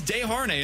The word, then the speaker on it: Desharnais: Learn your French Canadian. Well, it says Desharnais in terms of how you pronounce it. You may not want us to clip this one if he signs. Vincent Desharnais.